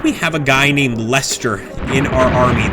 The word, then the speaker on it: Leicester: How do we have a guy named Lester in our army? That's Leicester, maybe. I'm using the English pronunciation. Leicester.